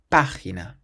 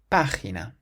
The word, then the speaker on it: página: The word for page has an accent on the A at the start, so we say página. Página. Emphasizing that first syllable.